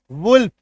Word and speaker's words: wolf: WOLF, वुल्फ, लॉ का उच्चारण होगा।